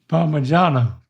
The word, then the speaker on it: Parmigiano: This is Italian, so that's a hint. Parma, it's a soft G. J, give it a J. Parmigiano. Nope, Parma J. Make that sound J. G. Parmigiano. Parmigiano.